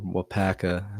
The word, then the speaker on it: Waupaca: is big Michael's District 66 and wapaka or Waupaca we pronounce that it's Michael's 35 Michael's Plus 35.